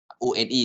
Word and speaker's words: one: O-N-E is supposed to be 1, but when we pronounce it in the compound, it will become like on.